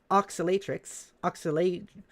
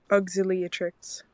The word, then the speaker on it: Auxiliatrix: Grim Oscillatrix. I gotta... hang on. Pronounce. Auxiliatrix.